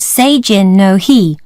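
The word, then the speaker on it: Seijin no Hi: a festival in Japan the festival is called se Jin know he which is spelt s e I say I n n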